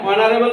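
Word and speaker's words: honorable: তার মানে এইচ A silent letter, মানে এইচটা এখানে সাইলেন্ট, উচ্চ।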